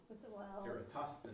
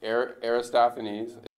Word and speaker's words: Eratosthenes: How do you pronounce it? Eratosthenes. Eratosthenes, yeah. Forgive me. I'm not Greek. I don't speak Greek. So, Aristophanes.